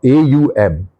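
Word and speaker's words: Aum: It's not but a it's exact pronunciation a U m.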